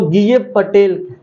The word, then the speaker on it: Gieve Patel: किसने ग गए पटेल इसको अगर मैं नहीं बताऊ उच्चारण करके तो बहुत को गलत उच्चारण कर दोगे इसलिए बता दिया तो गय पटेल है ना क्या है ग